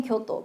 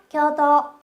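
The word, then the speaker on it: 京都: 자 여러분들 많이 알고 계신 교도. 교도가 아닙니다. 교으토라고 쓰거든요. 같이 발음할게요. 겨더. 요. 뒤는 짧아요. 한 번 더. 겨더.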